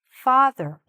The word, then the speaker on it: father: Same issue here with the th. Father. Father. Okay? Make sure you're saying it soft like that. V. V. Not d. Okay?